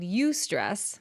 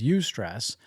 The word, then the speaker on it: eustress: So he said eustress, and I had to say, will you spell that?